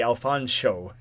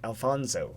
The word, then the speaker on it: Alfonso: Pronouncing the sh sound is very important, so you got to be Alfonso. He gets offended if you pronounce it Alfonso.